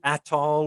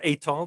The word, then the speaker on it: Atoll: Of course, as geologists, we should say, if you get a map of the Horseshoe Atoll or Atoll, depending how you present it, you pronounce it, you'll see that Slayton, Texas is in there very close.